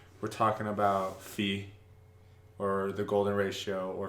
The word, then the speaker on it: phi: thought was interesting because it kind of sounds like pi, but it's phi.